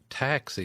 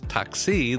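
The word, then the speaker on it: ταξί: word was tuxi so she was putting the emphasis on the first syllable but in Greek it's toxi the emphasis on the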